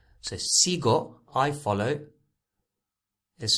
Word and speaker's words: sigo: i or an e so automatically the g is a gu sound the g is a gus sound so we don't need a u to make it hard so sigo i follow is spelled